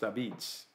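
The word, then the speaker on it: apizza: And pizza is not pronounced pizza in New Haven. It's pronounced Abitz, which is how they would pronounce it in southern Italy.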